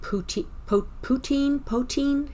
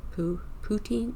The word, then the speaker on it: poutine: Now, does your area also have that um that dish that they call pouti poin? How's it pronounced? Poutine.